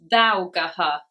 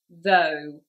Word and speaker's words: though: From looking at this word, you might think it was said thougaha, if you were trying to say it phonetically, thougaha, which of course would be very wrong, as we know the pronunciation is though.